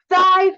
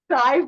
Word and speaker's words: Thai: girl corrected him with no I think you're saying it wrong it's Thai food yeah he would just